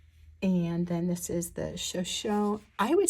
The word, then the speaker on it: Shoshone: And then this is the Shoshone, I would say Shoshone, but they were pronouncing it Shoshone Falls.